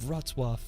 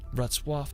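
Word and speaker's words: Wrocław: Now, after we're going to head over to the beautiful city of Ratzwaf. I mean, it's such a tricky pronunciation. Now, located in Western Poland, about a 3-hour drive from KKO, Ratwaf is such a charming historical place.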